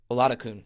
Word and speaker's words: Oladokun: to Brett Denon great songwriter Joy uh okin oladokun that's how you say her name my apologies